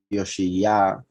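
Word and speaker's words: יאשיהו: Interestingly enough, as you can see, even though it is pronounced Yoshiyah, instead of a vav is a letter aleph,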